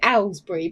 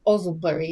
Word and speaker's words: Owslebury: We used to call it Owslebury, but it's actually pronounced Owslebury.